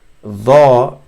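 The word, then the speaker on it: ظاء: Dha is the same, except there's more of the tongue touches more of the teeth from the front. So it's and it's a full sound instead of a soft plain sound.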